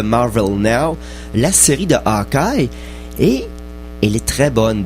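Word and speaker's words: Aja: dessiné principalement par David AR a on va prononcer ça comme a espagnol et puis ça se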